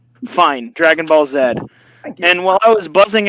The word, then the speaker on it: Dragon Ball Z: it said what z z z you Canadians Dragon Ball Zed I'll say it that way it's not Canadian